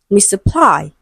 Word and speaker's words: misapply: So the different stress pattern is in the word misapply, it is stressed on the last syllable, as opposed to option